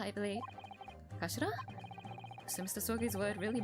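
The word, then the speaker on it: 頭: end of the hilt it's written as head in Japanese but it's pronounced as Kashira I believe Kashira so Mr so's word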